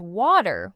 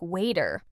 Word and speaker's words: water: actually pronouncing it as water with a clear t sound. What then? What do they actually say? More like waiter. The T transforms into a soft D sound when it's between vowels.